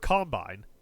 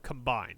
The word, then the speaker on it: combine: pronounce it differently and you put an emphasis on a different syllable for the noun version versus the verb version.